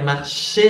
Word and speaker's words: marché: Le marché, attention à Maria, marché avec un accent sur le E. Sinon, es marché, es una escala.